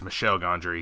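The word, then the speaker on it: Michel Gondry: eternal sunshine but no i think i've mispronounced his name it's michelle gondry he's a french so um yes so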